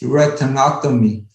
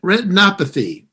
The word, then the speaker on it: retinopathy: I have glaucoma and then also diabetes retinotomy. Okay. I cannot pronounce it correctly. I think retinopathy. Yep, yes. You got it.